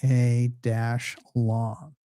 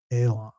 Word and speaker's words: Alan: Which he pronounced A A A-lon, A-lon. Sounds like Elon to me.